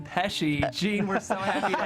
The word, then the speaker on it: Pesce: In my honored tradition of mispronouncing my guests' names, I did say Pesce at the top of the show. It's actually Gene Pesce.